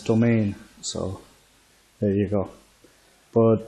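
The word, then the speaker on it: Demesne: This one that I pronounced in a previous episode as Demence, I've been told is pronounced as Domain, so there you go.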